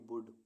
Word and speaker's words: would: ऐसे वर्ड्स जिनमें alphabet L silent रहता है। BALM बाम, बाम मीन्स मरहम। WOULD वुड, वुड मीन्स गा गी गे।